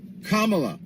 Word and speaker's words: Kamala: did you know that the Camila Harris K La Kamala if you really want